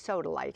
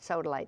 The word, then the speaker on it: sodalite: It's soodily. I think I mispronounced that. Sodaly.